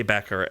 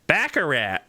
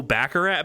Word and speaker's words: baccarat: Every time they say Baccarat, they say it like Baccarat. Say it very special, not Baccarat.